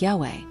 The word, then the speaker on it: Yahweh: This system eventually led to the erroneous reading Jehovah, which results from combining the consonants of YHWH with the vowels of Adonai. Speculations on the original pronunciation. Although the correct pronunciation of the Tetragrammaton has been lost, some scholars suggest that God's name could have been something like Yahweh.